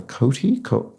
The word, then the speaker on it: coati: Oh, a coati? I'm never sure if I'm pronouncing this correct.